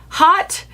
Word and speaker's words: haute: So Haute, hot. I have seen it pronounced every which way. I know Haute is correct. It's a French word, I believe, but I want to